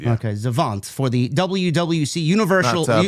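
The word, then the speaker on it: Xavant: X A V A N T Zant I believe I I I that's how I would pronounce it. Yeah. Okay. Zavant for the WWC Universal.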